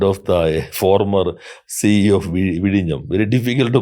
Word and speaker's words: Vizhinjam: Vidium. Yeah, Vidyam. Whenever you can pronounce Vidinam properly, then you can do anything. That is the first comment of the former CEO of Vidam.